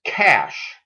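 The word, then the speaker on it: cache: the one before it the next word is often mispronounced it's cash just like C A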